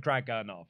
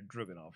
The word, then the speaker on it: Dragunov: It is like Dragunov as opposed to Druganov, which is how it's spelled.